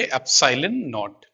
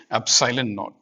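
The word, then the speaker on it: epsilon naught: इसको कैसे प्रोनाउंस करेंगे, एप्सिलॉन नॉट, ठीक है, एप्सिलॉन नॉट।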